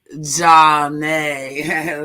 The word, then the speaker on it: Janet: Janet pronounced Ja-nay. Like Ja.